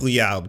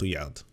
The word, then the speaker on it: Rouillard: Jacques Rouillard, by the way, is how you pronounce the last name. It's R-O-U, that means the Rue, and then the R-U-O-I, the Rouillard, so Jacques Rouillard.